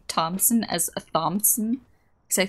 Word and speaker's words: Thompson: The H is just silent for some stupid reason.